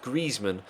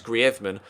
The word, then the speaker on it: Griezmann: season actually an gri requested to commentators in Spain that they actually pronounce his name the Spanish way which is griman rather than Griezmann because